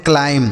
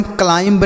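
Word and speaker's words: climb: तो इसे हम पढ़ते हैं क्लाइम। क्या पढ़ते हैं? क्लाइम। देखिए इसे हम क्लाइंब नहीं पढ़ेंगे। यहां पर भी बी साइलेंट है।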